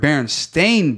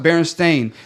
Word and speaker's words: Berenstain: know, or you know, it's Berenstain like Bear, yeah. it was like Berenstain." They always said Steen, so I'm like, if it was spelled with an A, then why the heck would we put the you know, Eve sound in it?